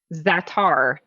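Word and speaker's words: za'atar: you get at trader joe's okay it's called zatar it's listed on your ingredients under the optional servings it's the very last thing it's spelled z-a-a-c-a-r zatar with a z so if you if you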